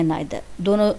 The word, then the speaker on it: neither: करते हैं, जिसको हम बहुत से लोग या तो इधर कहते हैं, निदर कहते हैं, या आइदर या नाइदर, दोनों ही हो सकते हैं।